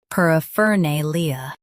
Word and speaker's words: paraphernalia: par a fa nay-lee-a a fa nay-lee-a paraphernalia US stresses nay. UK nay Keep fer soft.